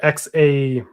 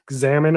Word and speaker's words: Xaman: Are you talking about the XAMAN, the Xamen? I guess it's pronounced Shaman wallet.